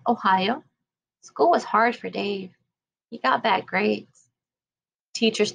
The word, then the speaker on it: Dav: When he received his name tag, the E was missing at the end of Dave. He liked the new spelling and became Dave, still pronounced like Dave.